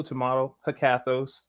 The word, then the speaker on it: Hekathos: your name right hecathus um tomato tomorrow cathos that's how I pronounce it but yeah what